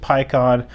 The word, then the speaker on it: Paikuhan: West Galaxy Warrior and by the way I do pronounce it Pyon I know that Japanese is like puhan or something like that but I prefer to pronounce it as Pon as I saw it in the dubbed anime uto when this card